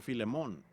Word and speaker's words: Filemón: Así que Filemón dijo alguien allá atrás, lo cual creo que es la pronunciación correcta.